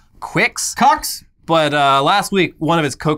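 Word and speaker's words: Qux: It's spelled Q-U-X. Cox. And the promotional materials on its website pronounce it like Quix.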